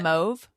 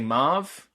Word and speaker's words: mauve: it says the way you say it does sound french yes yeah i did i